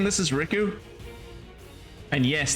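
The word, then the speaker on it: Rikku: Am I right in saying this is Riku? And yes, that is how I insist on pronouncing her name, because if I don't, then I'll confuse her with Riku from the Kingdom Hearts games, and to be fair,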